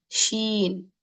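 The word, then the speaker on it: شين: like that okay so seen next letter is Sheen Sheen how is this Sheen written Sheen is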